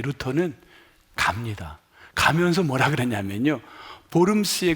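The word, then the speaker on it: Worms: 했게 너무 많으니까요 어 우리 영어로는 쓰고 독일 말로는 보름스 한국말로도 보름 씁니다 발음 스페링 그대로나요 독일 발음은 보름 스에 루터가 가면은 죽어요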